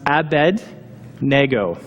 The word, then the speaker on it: Abednego: The last name is pronounced Abednego. Okay? Phonetically, I don't know how Abednego came into existence, but it did. In Hebrew, it's two words. The first one is Abed, which means servant, and the second one